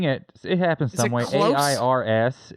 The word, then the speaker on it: Ayers: AIRS is generally how I tell people, like the plural of air.